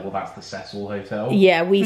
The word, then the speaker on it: Cecil: I know in the States people pronounce Cecil. Yeah. We pronounce it Cecil, they pronounce it Cecil.